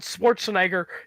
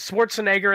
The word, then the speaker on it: Schwarzenegger: First of all, I can't always pronounce it correctly because I have had cases where I've said Arnold Schwarzenegger and they've said no, it's Schwarzenegger. You're saying it wrong.